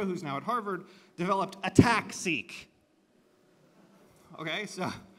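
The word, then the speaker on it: ATAC-seq: now at Harvard developed attack seek okay so it's attack well I like to say attack seek because the transposase is attacking the chromatin it isn't ATT attacking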